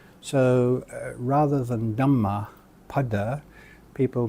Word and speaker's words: Dhammapada: Buddhist scriptures is the Dhammapada, but I've often seen it pronounced as Dhammapata. So rather than Dhammapada, people mispronounce it as Dhammapata. Once again, there is no long A there, and so it's not necessary to do that.